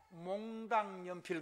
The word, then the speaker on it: 몽당 연필: 그 다음에 작은 일 할 때는요, 몽당 연필 그러죠. 그렇게 발음할 때는 몽당이 몽땅으로 이렇게 이제 국외음화가 일어나는 건데, 자음접표 말고 한번 따라해 보십시오. 몽당 연필.